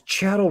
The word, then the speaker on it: chattel: Says chattel rhymes with cattle.